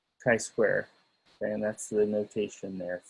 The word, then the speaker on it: chi-square: and but of course it's not just kai it's square again the square will make sense shortly so we pronounce it as chi square and the formula for